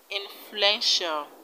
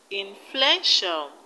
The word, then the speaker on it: influential: then residential residential in the word influential influential the stress is on fluent fluent influential influential in the right territorial the